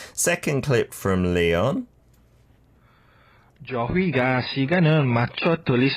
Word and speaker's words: 저희가: pronouncing every syllable, Yeah, right? you don't need to do that. It can be more smoother. Become 저희가. 저희가. Doesn't really sound the H.